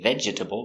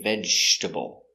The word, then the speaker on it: vegetable: is vegetable with vegetable we have a silent E we don't say vegetable we say vegetable one vegetable two vegetables